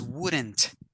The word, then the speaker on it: wouldn't: In this case, it's wouldn't. Wouldn't. We have to pronounce the last sound of the T.